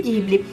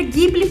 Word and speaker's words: Ghibli: E eu acho que vocês vão perceber bastante que o som é de Gui e não de Di, como realmente seria a pronúncia de G-U-I, de Guilherme, por exemplo.